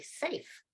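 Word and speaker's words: Samhain: the Celtic world is the holiday sa and it's s m ha a i n and Celtic's an interesting langu language they have all these letters that you don't pronounce or you pronounce it a different way than you'd think you would and that's that's that's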